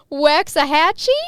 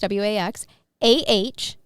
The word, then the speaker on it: Waxahachie: Bill retired after 35 years at a glass company in Spell it. I got to hear. Waxahachie?